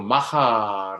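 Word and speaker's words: maja: 부인 이라고 부르기도 했습니다만 여기서 마이아 라는 것은 사람은 이름이 아니고 스페인으로 마하 라고 발음하고 끝내 주는 여인 또는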